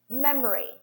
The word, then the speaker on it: memory: So I'm showing, I'm stressing the syllable and the other ones are reduced. One more example. Memory, memory, memory.